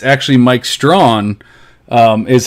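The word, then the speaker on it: Strachan: not strong it's tracking either it's actually mike strawn um is how to pronounce his last name so like the fact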